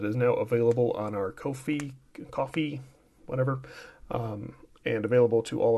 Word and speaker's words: Ko-fi: I always call it Ko-fi. I think they want me to say coffee, but it's spelled K-O-F-I.